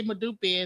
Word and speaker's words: Modupe: Modupe. Am I saying it right? Modup. All right. any final words from from you chief or we say madupi and just say